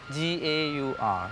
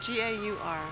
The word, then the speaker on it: gaur: How do you spell that? G-A-U-R. G-A-U-R.